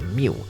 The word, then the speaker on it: mu: the mass of the students minus out the mu right. So this is pronounced as mu mu and is actually the mean.